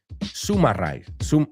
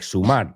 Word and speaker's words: summarize: The mistake there is summarize. Right? People want to say it like sumar, but it's summarize, sum up.